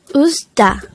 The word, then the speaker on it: 웃다: hangout number 63 usta usta the word usta is a verb or an action word which means to smile or laugh the word usta could be divided into two syllables ooz da is formed from the